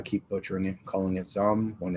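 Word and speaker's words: Xumm: butchering it calling it some when it's some but it's just something in my brain says x it's it's pronounced like z but you get what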